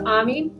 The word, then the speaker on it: Ami: Hi, my name is Ammy. It is spelled AMI. I tell people that it's like Monami, my friend in French.